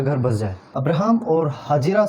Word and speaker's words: हाजिरा: उसका नाम था हाजिरा। लिखने में हम उनको हागर लिखते हैं पर प्रोनाउंस इनको हाजिरा करते हैं हिंदी में।